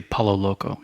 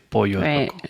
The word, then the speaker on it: Pollo Loco: It's like Pollo Loco. You don't say Palo Loco. You say Pollo Loco.